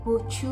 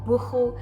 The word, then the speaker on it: buchu: I do love a nice morning cup of buchu or bucho, depending where you're from.